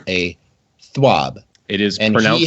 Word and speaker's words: TWAB: is rare for centuries I have noted that the this week at Bungie is pronounced as a swab it is and now